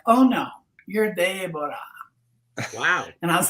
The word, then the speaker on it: Debora: and she said well why don't you just pronounce it Deborah that's the Hebrew Annunciation and that was close